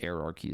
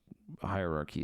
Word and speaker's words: hierarchy: an hierarchy of the depending on where you're from how it's pronounced I think erarchy is technically correct but hierarchy is how some others pronounce it anyway whatever you might